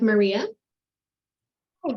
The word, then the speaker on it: Mariah: Mariah hi everyone I almost started talking when Maria was talking because I'm so used to my name being pronounced Miss pronounced Maria um hi everyone Mariah with Richard the Delta I'm the campaign